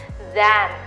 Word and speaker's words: than: m done so jump up and it is pronounced as than t-h-e-n is pronounced as then this is that